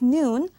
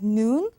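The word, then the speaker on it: 눈: next word is noon if you pronounce noon long like noon then it means snow but if you pronounce it short like noon then it means eyes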